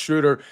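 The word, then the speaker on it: Schröder: Sup John says it's pronounced Schroeder.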